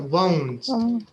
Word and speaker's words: won't: So won't. We won't. Yeah. Won't like don't. We won't be in England. Remember, the pronunciation of won't اللي هي النيجاتيف بتاع will not. صوتها زي don't. Won't, don't. نفس الصوت.